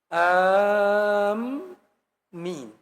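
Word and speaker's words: آمين: Pak, Bu yang benar bacanya ya. Am min. Karena ada orang amin amin itu ngegerokan si amin itu. Kalau amin artinya yang amanah.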